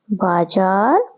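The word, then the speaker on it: बाज़ार: इसमें क्या लिखा है बाजार बाजा ठीक है इसमें उच्चारण अलग अलग आ रहा है बाजार बाजार में जो उच्चारण क रहा है उसमें अलग आ रहा है और बाजा बाजा हम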